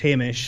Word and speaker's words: Hamish: your name hamish i mean it is pronounced hamish everyone's told you that but during these last